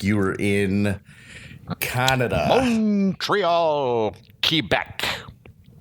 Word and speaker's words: Quebec: were in canada montreal quebec i have to say key back because that's the way